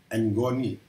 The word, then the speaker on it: ngoni: ini saya akan bicara mengenai engoni bukan ngoni ya bacanya engoni apa itu ngoni engoni